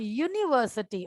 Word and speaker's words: university: But when I pronounce the word university, although it is beginning with a vowel, that is U, but the pronunciation is yo, that is again a consonant sound is there, right?